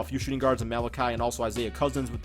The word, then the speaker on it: Malachi: I used to pronounce him Malichi and everybody got pissed off at me. I do know now it's Malachi.